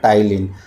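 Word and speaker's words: ptyalin: तो वो है आपका टाइलीन। पी साइलेंट होता है।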